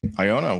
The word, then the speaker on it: Iona: iona italia i am here with iona italia iona what's going on hello xavier that that's correct isn't it that's not the pronunciation you got right yeah yeah um i